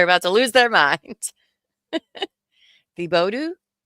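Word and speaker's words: Thibodaux: I'm in the Bodo. The Bodo? How do you say that? Oh, my Louisiana friends are about to lose their mind. The Bodo, right? It's French.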